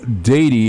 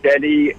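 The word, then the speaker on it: Deady: get this all the time I'm sure Tom dady is spelled dead II de AD why am i right there that's that's correct and a lot of people mispronounce it as Denny and a lot of people think it's actually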